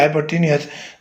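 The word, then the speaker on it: hypotenuse: है उसको बोलते हैं हाइपोटेन्यूस, हाइपोटेन्यूज या हाइपोटेनियस, जैसे भी आप इसको एब्रिविएशन करना चाहें, प्रोनाउंसिएशन इसकी हाइपोटेनियस। ठीक हो गया बेटा।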